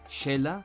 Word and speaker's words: Xela: de la S final, la pronunciación de la X como SH. Por ejemplo, la ciudad guatemalteca y su gentilicio, Cela y Celeño, se pronunciaría como Xela y Xeleño.